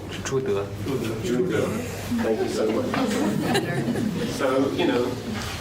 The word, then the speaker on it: Zhu De: forgive my pronunciation, so in the English we used to say Chute, now it's Zhude. Zhude.